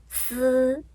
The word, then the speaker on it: 嘶: 再举一个例子，嘶这个音，嘶嘶一声啊，嘶，跟韩语